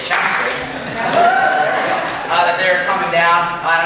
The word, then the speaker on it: Chelmsford: They're coming from Chelmsford, Mass, or as the locals say, Chelmsford.